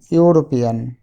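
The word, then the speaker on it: European: আরও কিছু ওয়ার্ড আছে, যেমন ইউরোপিয়ান। ইউরোপিয়ান শব্দটি শুরু হয়েছে ই দিয়ে, মানে ভাওয়েল দিয়ে, কিন্তু উচ্চারণ হচ্ছে ইউর মতো।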